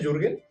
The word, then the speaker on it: Jürgen: te identificas Okay Eh bueno se pronuncia jurgen eh sea que lo